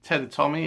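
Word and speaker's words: Teatime: Tea Time, or Ted, or Ted Tommy is how he says it's pronounced.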